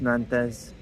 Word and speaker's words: Nantes: So this will be my last chance to just witness Nantes. Nante French people don't pronounce the S.